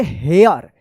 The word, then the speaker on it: here: हेयर। यहां पे जो है ना ई साइलेंट है, इसका ई उच्चारण यहां पे नहीं हो रहा है, हेरे मत पढ़िएगा, ठीक है ना?